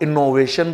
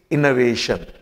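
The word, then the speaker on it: innovation: इस शब्द का तो इसको अधिकांश लोग इनोवेशन बोलते हैं इट इज नॉट इनोवेशन इट इज इनोवेशन यह ओ एक की तरीके से प्रोनाउंस किया जाता है इसी इ इस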